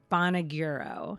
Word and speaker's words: Bonagiro: me no problem um bonagiro is how i say it i'm open to however